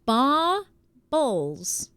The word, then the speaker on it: baubles: Baubles is a funny word. Am I saying it wrong? She typed it out Bawbuls. Baubles. Right? That's how Wixie told me.